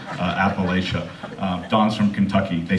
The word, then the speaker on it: Appalachia: it wrong just so you know it's actually pronounced appalachia don's from kentucky they say it wrong in